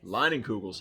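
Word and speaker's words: Leinenkugel's: Tonight we have, I always say this wrong, Leinenkugels. Did I say it right? Yes. Leinenkugels.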